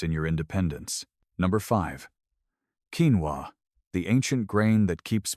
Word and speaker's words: quinoa: If you've ever wandered down the health food aisle at the grocery store, you've probably seen little bags of quinoa, pronounced quinoa, sitting next to rice or oats.